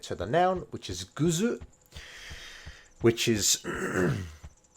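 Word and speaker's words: グッズ: the noun which is guzu which is a weird japanese pronunciation of the word good um and i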